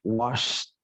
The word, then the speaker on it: washed: Berarti ed-nya nanti dibaca t doang. Jadi bacanya seperti ini. Washed.